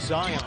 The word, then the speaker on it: Zion: Conley, pronunciation of Zion, like Mount Zion, strong, powerful. Zion Williamson.